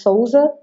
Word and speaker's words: Souza: The pronunciation for the last name is Souza, because I'm from Brazil, but it's Portugal. Last name is from Portugal.